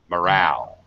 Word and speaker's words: morale: to be second syllable stress in the mo becomes ma morale like a schwa sound alright okay even though